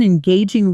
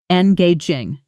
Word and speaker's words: engaging: He has such an engaging way of explaining complicated topics. Even people outside the industry find themselves genuinely interested. Pronunciation. Engaging. stress on the second syllable.